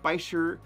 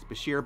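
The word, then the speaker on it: bichir: recommend a Bashir Bashir bisher the actual correct way to say it is Bashir but both are accepted shears are tropical fish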